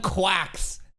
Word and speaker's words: GQuuuuuuX: So, that's how they pronounce it. Gundam Quacks.